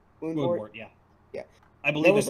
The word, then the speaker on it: Woundwort: Also, that Woundwort, or am I pronouncing it right? Woundwort, yeah.